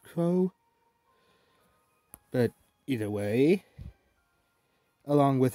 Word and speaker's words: Kros: with a a kros which i think would be pronounced cross but apparently it's pronounced crow but either way along